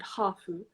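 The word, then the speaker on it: ハーフ: in japanese we have the word hafu which is like japanese pronunciation of half so like half it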